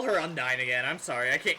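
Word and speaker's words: Undine: it or it's supposed the game pronounces the undini undini but it's spelled undyne okay sure sure gamecube game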